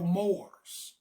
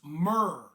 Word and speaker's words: Moor: What you call a Moor, that's a mispronunciation of the term. The term was not Moor. The term was not Moor. That is a corruption of the term. The term was Mur.